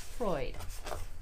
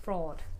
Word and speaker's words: Freud: were just going through this book Freud it's pronounced Freud Oh I thought it was pronounced fraud uh yeah sounds like chiropractors or acupuncture maybe